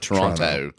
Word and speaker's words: Toronto: as hell Toronto Tonto Toronto Toronto is that how you say it it's two syllables if you're from there Toronto I went up there